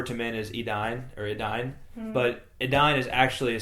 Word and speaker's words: Edain: right where it says AI has the sound of English I thus the second syllable of Adine is like English dine not d there you go my